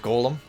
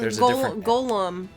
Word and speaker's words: golem: i mean it's a i specifically call it golem just so i don't mix it up with gollum because when i hear